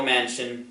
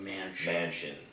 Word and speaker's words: Manchin: is like it's prince it's spelled man chin yeah but mansion yeah gavin newsom is